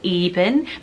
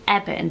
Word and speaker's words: Evan: is really really trendy sounds a bit like Evan some people may pronounce it even but I think their correct pronunciation is Evan because it's shortened form